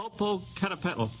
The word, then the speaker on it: Popocatépetl: Yes, but you'll have to pronounce it. Popocatépetl.